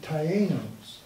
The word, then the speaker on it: Taíno: I guess and there's an accent on the I.